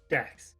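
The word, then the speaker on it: Daecks: x like dockers and you're just pronouncing it wrong like look d-a-e-c-k-s dax dax the appearance yeah trusty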